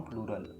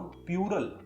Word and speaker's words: plural: ज्यादातर भारतीय noun प्लूरल संज्ञा बहुवचन का उच्चारण नाउन प्यूरल के रूप में करते हैं, जो कि गलत है। तो याद रखना, नाउन प्यूरल नहीं होता, ये प्लूरल होता है।